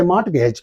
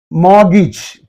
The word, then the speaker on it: mortgage: don't say mgage so the pronunciation of this word according to the British pronunciation it should be like this Mo morgage morgage Mage means R is dropped and T is dropped two letters are dropped see the this is